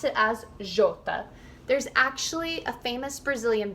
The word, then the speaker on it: Jota: So J is called Jota. You would pronounce it as Jota.